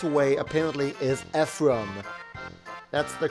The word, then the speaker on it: Ephraim: shifted it's like what it's not a frame it's Ephraim is so weird here